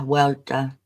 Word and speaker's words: Huerta: Yeah, Huerta.